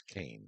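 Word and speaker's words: Caen: Khan is spelled C A N. That was I mentioned last week that that's a a city that we stayed in. It's Kane. When we in French, it's Khan.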